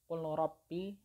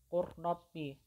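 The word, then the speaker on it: قُل رَّبِّ: Jadi cara membacanya ini bukan qul rabbi, bukan seperti itu. Huruf lamnya tidak dibaca, jadi langsung dimasukkan ke huruf ro-nya atau diidghamkan ke huruf ra-nya. Qurrabbi, qurrabbi, seperti itu.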